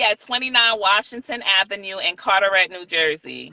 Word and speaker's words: Carteret: 29 Washington Avenue in Carterette New Jersey how you spell that like Carter like the eye like carette c a r t